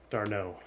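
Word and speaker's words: d'Arnaud: it right the first time say it again darno there you go you got it i think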